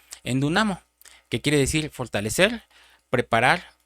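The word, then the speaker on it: ἐνδυναμόω: Y cuando Pablo dice fortalecer, viene de una palabra griega que se pronuncia endunamo, que quiere decir fortalecer, preparar o hacer capaz.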